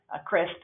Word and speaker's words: CRSP: So that's the top, the number one of your handout that says CRSP, CRISP is how we pronounce that, eligibility document.